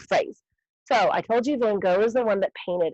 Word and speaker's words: Van Gogh: Van Gogh is actually how you say it.